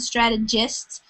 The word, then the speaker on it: strategists: 80s with political strategists let the soft G sound strategists so those are the